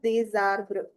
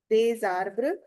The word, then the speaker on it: des arbres: Donner parc il y a des arbres. Liaison is necessary. Des arbres. Des arbres.